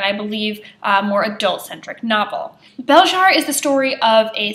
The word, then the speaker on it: Belzhar: I believe the correct pronunciation is Belzhar, given the way they say it in the book, but Belzhar by Meg Wolitzer is an interesting piece.